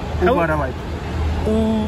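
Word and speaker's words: Uvarovite: How would you pronounce this name, my friend? Sorry? Uvarolite. Green granite. Oh, wow. Uvarolite.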